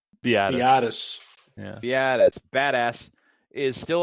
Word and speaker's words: Biadasz: Biadasz.